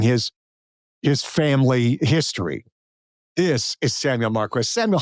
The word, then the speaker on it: Samuel Marquis: And here's the thing, his name is Samuel Marquis because I finally learned how to pronounce it.